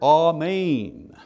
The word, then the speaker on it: amen: And then He says, amen. Amen comes from the Hebrew word which meant surely, or to be firm, or steady, or trustworthy. The anglicized version of the Hebrew word amen, pronounced amen in Hebrew, and was translated to Greek